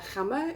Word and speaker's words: Gamma: Anyway, this is, I'm not going to open the paint, but this is the store is Gamma, or you pronounce it Gamma in Holland, and it's this brand, Wooden Wall, which I've had quite a few times.